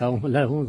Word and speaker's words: Allondaz: On prononce Alonde en savoyard et ça s'écrit Alondaz avec un Z à la fin que l'on ne prononce pas.